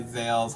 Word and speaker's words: ZAYLE: And if you guys need to figure out how his name is pronounced, just go listen to the terrible, terrible singer Gayle, which you can listen to her song with A B C D E F U. You listen to Gayle, remove the G, and put the Z in it.